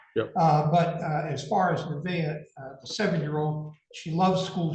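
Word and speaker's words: Nevaeh: Nivea.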